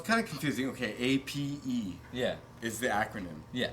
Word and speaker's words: A.P.E.: Okay, A.P.E. Yeah. is the acronym. Yeah. So it's not really supposed to be pronounced APE.